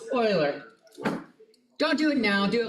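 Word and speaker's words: Euler: she's done that though it does look like uler I agree and until you know hear the correct pronunciation you're going to say you but it's in fact Google how do I pronounce Oiler don't do it now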